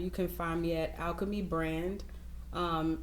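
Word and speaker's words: Alkeme Brand: Facebook and Instagram you can find me at Alchemy brand um it's spelled a-l-k-e-m-e-b-r-a-n-d um yeah just just follow us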